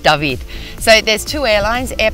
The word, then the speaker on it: David: into the town of David, also known as David, but pronounced David.